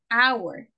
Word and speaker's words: hour: the question was why why you pronounce an if not a an hour word oh because a letter h ah because of the sound yes because it's a vowel sound oh okay because you